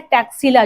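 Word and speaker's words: Taxila: यहाँ लिखा है टैक्सिला, जो ब्रिटिशर्स थे वो इसे इस तरीके से प्रोनाउंस करते थे, तो इसको टैक्सिला बोल सकते हो, बट तक्षशिला भी हम इसे बोलते हैं।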